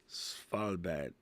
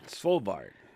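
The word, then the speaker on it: Svalbard: I can't How do you say that word, by the way? Spalbad. Okay. Spalbard. Swalbard. There we go.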